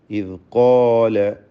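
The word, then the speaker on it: إذ قال: വ ഇബ്റാഹീമ ഇദ് ഖാല. ഇവിടെ ഖാഫിനും അലിഫിനും തഫ്ഖീം ഉണ്ടാവണം. തടിപ്പിച്ച് ഉച്ചരിക്കുക. ഇദ് ഖാല ഇദ് ഖാല. അത് ഇസ് എന്നോ ഇദ് എന്നൊന്നും ആയിപ്പോലെ ദാല് വ്യക്തമാക്കി ഉച്ചരിക്കുക. അതിൻ്റെ മഖ്റജ് നാവിൻ്റെ അറ്റവും മേലെ മുൻപല്ലിൻ്റെ അറ്റവും എന്നതാണ്.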